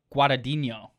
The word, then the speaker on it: Guadagnino: Vinny Guadagnino. He's got Yeah. a silent G in there. He's got a silent and a non-silent.